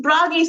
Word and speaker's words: Bragi: The Bragi sounds kind of cute and silly, like the dog in the story is. And it might even rhyme with doggy, if depending on how you say it.